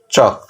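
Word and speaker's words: chalk: উচ্চারণটা হবে না, শুধু কে উচ্চারণটা হবে, ক উচ্চারণ হবে। তাহলে টক, ওয়াক, চক।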